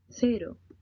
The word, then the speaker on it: cero: These words do not have an English R sound. Got it. pero, caro, cero, hablar, comer, triste, Listen and repeat. Be sure to make your R sound more like a D.